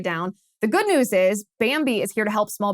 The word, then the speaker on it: Bambee: The good news is Bambi is here to help small business owners implement good HR practices.